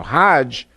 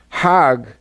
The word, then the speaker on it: hajj: around the circles now hajj is a pilgrim to mecca hag is the egyptian pronunciation hog in hebrew means